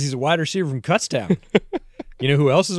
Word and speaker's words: Kutztown: How do you pronounce this school? Kutztown? Kutztown.